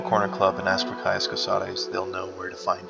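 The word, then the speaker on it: Caius Cosades: And I don't know if that's how you really pronounce it. I hear Cosades, Cosades. Could be Cosades, for all I know. But I like to say Caius Cosares.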